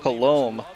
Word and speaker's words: Coulombe: Well, the best Coulombe. Oh, that's how it's pronounced.